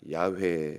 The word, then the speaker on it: 야훼: 이름은 무슨 뜻입니까 14절에이 여호와라고 하죠 나는 스스로 있는 죄인이라 야훼 이렇게 발음이 그렇게 나옵니다 9번입니다 하나님이 모세에게 이르시되